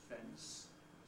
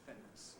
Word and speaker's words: fence: the same option there, although the dictionary will usually tell you that it should be pronounced fence, fence, fence, to put a fence under around your property. Many speakers insert an epithetic plosive between the N and the S and call it a fence, a fence of the property.